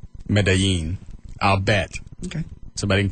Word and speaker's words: Medellin: How did that change the pronunciation? Change the two Y's to to the L's to a Y. Try that. Medellin? You don't say the L's. Medellin? Medellin? That's pretty close.